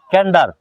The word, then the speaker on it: Candour: করব হ্যাঁ প্রশ্নটা হচ্ছে ক্যান্ডার ক্যান্ডার উচ্চারণটা আমি বলে দিচ্ছি সি এ এন ক্যান ডি ও ইউ আর ক্যান্ডার ক্যান্ডার মানে কি ক্যান্ডোর